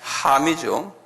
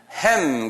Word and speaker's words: 함: 그 다음에 함이죠. 함은 한국말로는 함 그러지만 영어권 사람들은 햄 그래요. 그분들이 잘못 발음하는 거예요. 우리 발음인 맞아요. 원어의 함이에요.